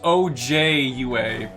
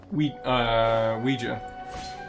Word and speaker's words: Ouija: It's pronounced OJUA board. Ouija. Or Ouija. But people say it really fast, so it's a Ouija.